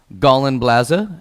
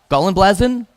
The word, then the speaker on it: Gallenblase: And she said, Gallenblase. And I said, oh, Gallenblasen? She goes, no, Gallenblase. And I said, Gallenblasen. She goes, not blasen, blaza.